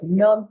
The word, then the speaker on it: numb: Um, so we've got to go under, to heal, to numb. Be careful with this word numb. It has a B at the end, but we don't pronounce it.